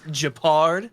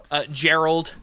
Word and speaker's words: Gepard: It's Japard. Oh, I didn't know that. Yeah. I just thought I thought you were making a goof of it. But I mean, I've heard so many different pronunciations. Even some people will be like Gerald or something like.